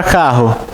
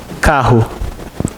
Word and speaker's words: carro: Carro. O 2 R's a gente pronuncia como se fosse um só.